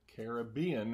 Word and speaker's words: Caribbean: let it Carribean reserve I had to look up Carribean versus Caribbean it seems mostly consensus that Caribbean is the correct pronunciation because a carob is some sort of potato like in the potato family and so that's where the name is derived from so anyway enough on